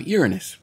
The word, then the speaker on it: Uranus: gravity of it you know then we have Uranus yes it's pronounced that way and not the way you